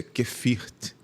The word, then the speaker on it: Geviert: A gente pode, se escreve geviert, mas a pronúncia é kefirt.